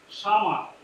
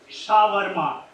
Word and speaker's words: shawarma: Can you spell it? How do you spell that? Shama. Oh, close enough. Anybody wants to take it from there? He is very, very close. Shawarma. It's called shawarma.